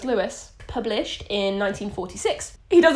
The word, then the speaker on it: Lewis: Are we sure that's a Lewis, not a Louis? Well, it's spelled Lewis, so it's Lewis.